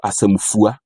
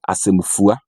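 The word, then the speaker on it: asɛmfua: an I, E, but the Akuapem pronounce the letter U, so asemfua. They say Akuapem, and then the Asante say Akuapem, so asemfua.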